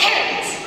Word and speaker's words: Harriet: Parrot. Rhymes with parrot. I'm sorry? It's pronounced parrot. The I is silent. Okay, so King.